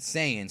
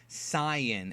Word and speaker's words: Saiyan: dub and pronounce it saan so for the purposes of this video I will be pronouncing it saan the correct pronunciation from the original Japanese word yasai is Sayan and what happen happened